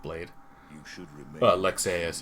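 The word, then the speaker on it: Lexaeus: you should remember but lexas is the same way there's like an a and a u and you have to pronounce both of them they don't like mesh into one because it's not an english name the king where's the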